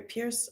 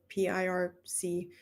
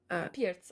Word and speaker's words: Pirc: Sorry, Pierce. I don't know how to pronounce it. PIRC. Pirc, ah yes, Pirc.